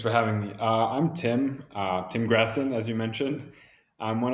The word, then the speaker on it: Grassin: Grassin?